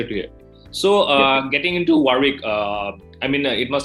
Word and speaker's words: Warwick: to you need to keep that w silent the second deal silence